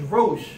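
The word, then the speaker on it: ראש: This last letter for basar is the head of a man, and they pronounce it as rosh.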